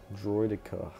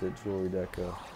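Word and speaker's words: Droideka: ago and that's what it says it says droid echo I thought I thought I know for sure I heard youtubers pronounce a jewelry deco however it's not that port oh you wanna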